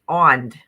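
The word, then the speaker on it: Önd: It is pronounced ond. Ond. and it is the source of all sound in the cosmos and means breath.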